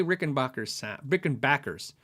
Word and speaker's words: Rickenbacker: I love the way Rickenbackers sound. It's like backpacker. I did a how do you say video, and I asked them how do you say it, and they said Rickenbacker.